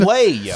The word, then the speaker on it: Soleil: Soleil. Soleil. Soleil. It's a silent L.